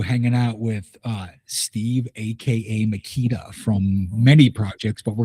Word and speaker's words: Meketa: my name is Steven Meketa, pronounced Meketa like the power tools, not Merca, not Meketa, not Meketa.